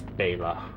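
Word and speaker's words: Bayla: E L A but so I thought it was Bella. I think pretty sure a lot of people probably thought it was Bella but it's Bella. B A Y L A is how you say it.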